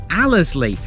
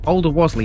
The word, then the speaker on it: Alderwasley: This, apparently to the folk who live out here, is Allerzlee. But I don't, so Alderwasley it is.